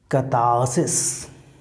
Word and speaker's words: catharsis: The spelling is Catharsis. The correct pronunciation that we must know of this particular term in British English.